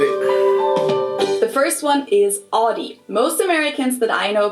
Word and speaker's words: Audi: I don't say Audi, it's Audi.